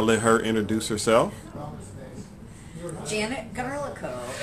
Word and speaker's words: Garlikov: Janet Garlikov. It's like garlic with an O. Okay. The V is silent.